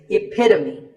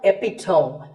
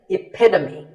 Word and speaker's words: epitome: And the perfect pronunciation of that is epitome. It's not epitome. Once again, epitome. Of course, once you have